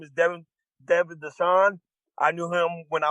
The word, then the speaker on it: Dassaw: Devon Dassaw. Sorry about that. You can no, it's all good. It's close. It's better than Dawson. It's better than Thesaurus.